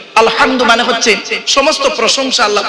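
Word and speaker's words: الحمد: রাব্বিল আলামিন আলহামদু আলহামদু এই গলার ভেতর থেকে উচ্চারণ করবেন আলহামদু মানে হচ্ছে সমস্ত প্রশংসা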